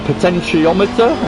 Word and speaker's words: potentiometer: than just a potential i always say it wrong but a potentiometer is how you say it but potentially whatever it